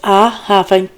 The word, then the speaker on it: Ichabod: She named the child Ichabod. That's I-Khavod. And it's spelled like, right here it says Ichabod without glory. It's spelled like Ichabod from the Legend of Sleepy Hollow, Ichabod, saying, "The glory departed